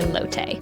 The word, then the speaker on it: Lotte: was doing the walkthrough, you'll hear me call the hotel L7 Chicago by Lotte. I wasn't quite sure how to pronounce it, but it turns out the correct version is L7 Chicago by Lotte.